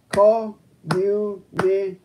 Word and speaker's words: communication: For example, the word communication is a 5-4 word. The label means that communication is a 5-syllable word, primary stress on the 4th syllable.